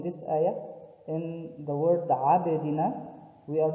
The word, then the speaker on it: عبدنا: But we are making the place which the letter is coming out of it to have like touch and come back, touch and come back, like عب, عبدنا, not عبدنا, عبدنا.